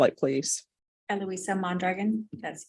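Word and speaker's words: Eloisa Mondragon: you'll state your name for the record and spell it please eloisa mandragon that's e- l o i s a last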